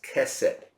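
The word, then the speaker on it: chesed: you the word huh we pronounce it as cassette but it's spelled c h e s e d c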